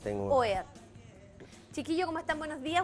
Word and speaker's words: OEAT: Y ellos son de la agrupación OEAD, así, no como se pronuncia en el inglés, OEAD.